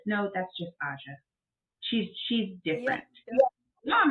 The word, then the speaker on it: Aja: stop you right there so do you pronounce your name AA or you pronounce it Asia it's AA I didn't want to